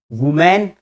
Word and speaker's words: women: विमेन, इट इज वुमेन, इट इज विमेन, वुमेन विमेन, वुमेन विमेन, वुमेन singular, विमेन plural, वुमेन विमेन, वुमेन विमेन। ये वुमेन है WOMN, ये विमेन है WOMEN। आगे बढ़ते हैं, आप गौर